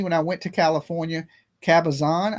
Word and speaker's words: Cabazon: I went to California, Kabazan, I believe I said it right that time, right? Cabazon.